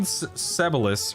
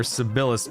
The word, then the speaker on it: Sebilis: Uh, I mean, old Sebilis or Sibilis, depending upon how you pronounce it, it was probably